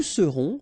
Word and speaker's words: serons: Je serai, tu seras, final S not pronounced, il sera, elle sera, nous serons, final S not pronounced, vous serez, a Z at the end, et serez, ils seront, final T not pronounced, elles seront.